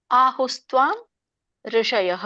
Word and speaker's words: ಆಹುಸ್ತ್ವಾಂ ಋಷಯಃ: ಇದನ್ನ ಬಿಡಿಸಿದಾಗ ಆಹುಹು ತ್ವಾಂ ಋಷಯಃ 3 ಪದಗಳಾಗತ್ತೆ. ಆಹುಹು ತ್ವಾಂ ಋಷಯಃ. ಸೊ ನೀವಿದನ್ನ ಆಹುಸ್ತ್ವಾಂ ಋಷಯಃ ಅಂತ ಹೇಳ್ಬೋದು.